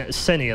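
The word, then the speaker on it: ceh9: And he said, no, it's Senia. And you and I both have said it exactly the same way ever since. And there are still damn arguments to this day about how you pronounce his name. Well, it changed from Essenin, right? And that's where everyone was just thrown off with it. And then Senia, which, you know, to us is, say, 9.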